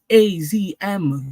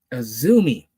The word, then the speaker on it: AZM: It is not AZM, you fucks. It is Azumi.